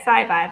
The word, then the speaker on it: Scivive: Yeah, Scivive. I'm sorry, I've never like encountered that term before, but It's science and survive.